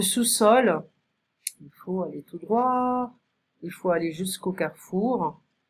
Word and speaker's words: droit: Donc attention à la prononciation, la droite, the right, et à droite, tout droit, pardon, à droite, la droite, tout droit, d'accord.